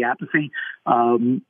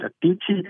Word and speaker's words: Appice: I believe the way that Vinny pronounced it, Vinny Appice, is the way that his parents pronounced the name. And I believe that the way their third brother, Frank, I believe, pronounced it Appice, which is more the Italian dialect.